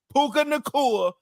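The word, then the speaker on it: Puka Nacua: what we could do now now we can pronounce it the correct way puka Nur is the reason the Rams were even in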